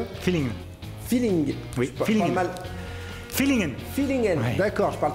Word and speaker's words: Villingen: Naissance à Villingen, je prononce bien ? Feeling. Feeling. Oui, feeling. Fillingen.